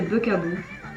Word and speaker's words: bugAboo: Oh, je l'ai pas si mal prononcé que ça, alors c'est Bughaboo.